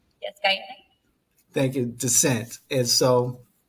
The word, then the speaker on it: Guyana: Yes, Guyana.